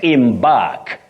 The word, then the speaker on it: embark: Embark, not embark.